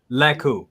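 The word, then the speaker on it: lekku: Says, can you fit the Mondo Ahsoka into the new the Leku? Is it Leku? Am I saying it right? I always say it wrong. Leku.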